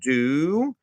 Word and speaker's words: Dubiel: to be an interview with Kyle Dubiel. That's how we pronounce his name. I'll just put that there, Dubiel, so we can get that pronunciation correct, because a lot of people make that mistake with his name.